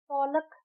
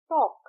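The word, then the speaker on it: talk: हम ओलक नहीं कहते हम कहते हैं टॉक। टी ए के टॉक तो एल इज साइलेंट।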